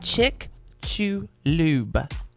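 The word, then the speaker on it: Chicxulub: Just so you know, it's Chick Lube.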